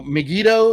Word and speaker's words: Megiddo: So Megiddo, is that how you say it, MC? Like Yeah. Yep, Megiddo.